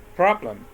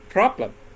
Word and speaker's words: problem: Problem. Okay? When I pronounce it, the first syllable is pronounced louder and stronger. I say problem.